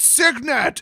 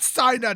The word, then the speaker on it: Signet: don't know this but it's actually pronounced psydat and like every single person it's signet it's not cyanide it's cignet yes that was the